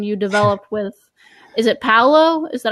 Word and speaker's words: Paolo: So Andrea asks, can you leave us a spoiler about the new pandemic version you developed with, is it Paolo? Is that how you say it? Paolo Mori, yeah.